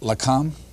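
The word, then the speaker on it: Lakam: only got 18 years I know I'm not going to pronounce this right Lam yes is that right yes uh that's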